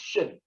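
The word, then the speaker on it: Qin: This is pronounced Wei, and the kin is pronounced Shin.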